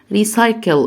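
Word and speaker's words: recycle: حرف السي بنطقه سي او س لما بيجي وراه الاي، وايه تاني؟ والاي، وايه تاني؟ والواي. الاي والاي والواي. طيب الاي والاي والواي، هنا عندي حرف السي جه وراه ايه؟ جه وراه واي، يبقى هنطقه س، يبقى ريسايكل يعني التدوير.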